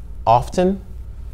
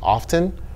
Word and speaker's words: often: say listen to but in the case of this word often you can pronounce the t you can say often or you can say